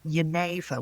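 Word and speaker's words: genever: of the world was a drink called Yaneva which is spelled G E N E V E R which is where the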